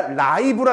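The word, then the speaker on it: live: 마 발음 장애가 있는 사람들에게요 장치가 지금 발음을 인식해 주는 솔루션이 있다거나 또는 실시간 이거는 리브가 아니라 라이브라 읽어 줍니다.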